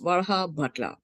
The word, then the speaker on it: Varhabhatla: I'm Kavita Varhabhatla. I know it's a very long last name, so so don't. Just in the trick is break it into 2 syllables. Varhabhatla.